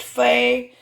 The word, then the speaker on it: pho: this video is about making pho pronounced Fay nummy soup that is